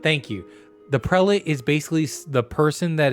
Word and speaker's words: prelate: the prelate i don't even know if i'm pronouncing that correct prelit thank you the prelate is basically the person that is under the